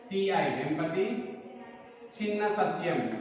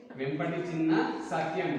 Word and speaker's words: Vempati Chinna Satyam: See here, pronunciation V-E-M-P-A-T-I, Vempati Chinna Satyam, C-H-I-N-N-A, Vempati Chinna Satyam, S-A-T-Y-A-M.